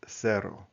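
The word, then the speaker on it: cero: So in most of central South America, Caribbean where Spanish is spoken, this is pronounced as sero. Okay. Sero. But in Spain, it's pronounced more with a th sound.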